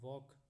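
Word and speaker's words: walk: तो टॉक में जब हम बोलेंगे तो L का उच्चारण नहीं हो रहा है, वॉक में भी नहीं हो रहा है, नाइट में भी नहीं हो रहा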